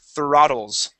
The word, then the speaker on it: throttles: um throttles okay so when we pronounce the uh the th okay we want to stick our tongue between our teeth okay so the the this is the uh th okay just like that throttles